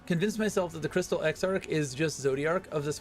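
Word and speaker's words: Exarch: It's spelled E X A R C H. And it's he's the crystal X arc.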